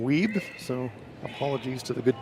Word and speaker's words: Wiebe: have pointed out that I have been mispronouncing Ryan's name so it's Ryan weeb so apologies to the